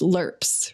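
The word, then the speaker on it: LRPPs: but i think you you say it's pronounced lerps right yeah so can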